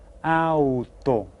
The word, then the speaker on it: auto: I pronounce all of those letters, auto.